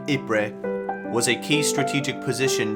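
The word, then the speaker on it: Ypres: a town in ruins dubbed wipers by british troops due to its difficult pronunciation the belgian town of ibre was a key strategic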